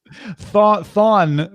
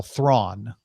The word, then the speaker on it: Thrawn: Thawne would be the mispronunciation of Grand Admiral Thrawn.